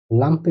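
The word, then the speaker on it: Lampe: যেটা এল আ এম পে এ একত্রে লামে লাম্পে অর্থ ল্যাম্প বাতিল যেটা এল আ এম এ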